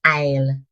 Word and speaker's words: aisle: But the S is silent. It's pronounced isle like the word isle.